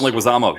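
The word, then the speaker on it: Leguizamo: Oh, John Leguisamo.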